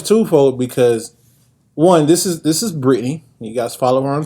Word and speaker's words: Brittany: I mean, of course they're similar, but there's an A in there and it's not silent. It's Brittany.